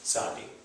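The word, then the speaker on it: Tsadi: Right, this is Ein, this is Sadi. So this is silent letter, and this one is TZ, or sometimes transliterated as TS, like mitzvah, right? Or tzedakah.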